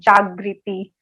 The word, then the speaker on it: Jagrati: It is spelled as Jagriti, but my name is Jagriti.